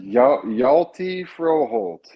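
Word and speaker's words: Hjalte Froholdt: full name oh uh yalty froh Holt so he's Scandinavian okay and when you have the the consonants like that start the H and the J the H is silent so it's yalty yelty froh holty frohold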